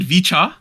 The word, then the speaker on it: VCHA: you um okay so in English we're calling it vicha which is based off